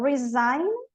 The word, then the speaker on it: resign: E, inclusive, algumas mudam a pronúncia, como resign and resignation. Resign, resignation. Aqui ela não pronuncio, aqui eu pronuncio.